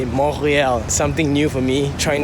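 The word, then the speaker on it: Montréal: accent, and it's like you don't pronounce the T. So it's like Montreal. Yeah, that's how you say it, Montreal.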